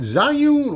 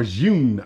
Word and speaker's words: Zhiyun: you know this company is it czar you or Zune I've heard it pronounced both ways I like Zune it's